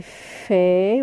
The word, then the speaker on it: fait: Ça c'est fait. Regardez A avec I, c'est E. T, ça se prononce pas.